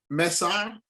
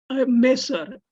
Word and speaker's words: Mesar: How does one pronounce these names properly? Mesar, Mesar, Mesar.